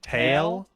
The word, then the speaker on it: tail: was like crying because you say tell instead of tail that's a that's a forbidden pration I'm sorry I'm from the East Co how do you say it tail not tell you can't don't say